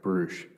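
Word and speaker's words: Brusch: Can you please state your name and spell it for the court reporter? Brush.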